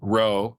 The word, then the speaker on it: rho: fancy term, Greek letter rho, which is where the term comes from. Looks like a lowercase p, but they pronounce it RHO, right?